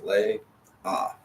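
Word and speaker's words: לאה: There's no consonant there to make a sound, so it's lay, ah.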